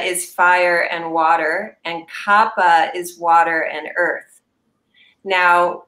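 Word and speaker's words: Kapha: yeah and Kappa is that the second one Kappa you'll pronounced as Kappa but I want I want let everyone know it's actually kaapa kaapa oh I did not know that pronounce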